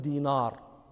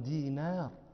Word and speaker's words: دينار: النون رقيقة، النون حرف رقيق، لا نقول دينار، هذا نطق عجمي، نحن عرب نقول عبد الله بن دينار. دينار نون، هذا حرف رقيق